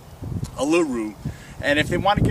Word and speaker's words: Uluru: Let's see, how do you pronounce that in the native tongue? Uluru.